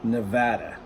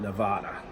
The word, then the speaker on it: Nevada: southwestern United States Nevada properly pronounced as Nevada not Nevada I know I've been